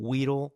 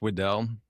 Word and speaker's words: Widell: And, I want to know, is the last name Weedle, like the Pokemon, or is it pronounced another way? It's pronounced Wedell, but a lot of people call me Weedle.